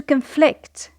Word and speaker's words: conflict: When it is a verb, we say to conflict. To conflict. So, the stress is on the second syllable.